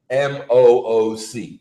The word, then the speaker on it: MOOC: For those who aren't familiar with either Elliot or the acronym, Massive Open Online Course, which can be pronounced MOOC.